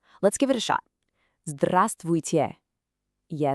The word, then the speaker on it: Здравствуйте: We're just going to break it down into three simple parts. Let's do it together, syllable by syllable. First part is strav. You try it. Okay, the second part, stvui. And the final little piece, te.